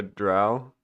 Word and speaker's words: drow: I said it right that time. I'm flip-flopping back and forth now. Sure, or Skywell really messed me up. Um, there's nothing else that's spelled that's way that's pronounced like that, right?